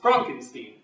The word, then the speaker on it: Frankenstein: you startled me that's Frankenstein my name it's pronounced Frankenstein you are pulling my leg no I'm I'm